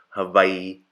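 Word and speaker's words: Hawaiʻi: what it does is it separates the vowels so you're not just saying hawaii you're saying hawaii the letter i is pronounced so you don't say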